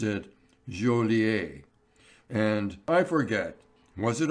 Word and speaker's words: Joliet: But he pronounced it Joliet.